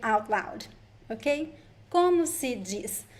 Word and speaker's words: diz: Como se diz? The letter Z at the end of words is pronounced as an S.